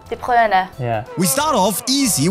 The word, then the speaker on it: De Bruyne: if I somehow still manage to butcher the pronunciation, I'm really sorry. Oh, and by the way, Kevin? He's called... De Bruyne. De Bruyne.